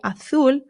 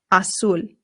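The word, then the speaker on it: azul: So you can say aul or asul. Both are totally fine but make sure your u is being pronounced oo always oo.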